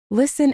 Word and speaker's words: listen: The rule here is simple. Drop the T. Listen and fasten are the big ones.